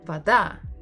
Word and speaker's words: Вода: It does sound that, so we stress A, not O. And that's why the guy says Вода. вода. Вода. Again, he pronounces the first syllable as va, but we have vo. It's another hint that the stress is not on the first syllable. It's not an o.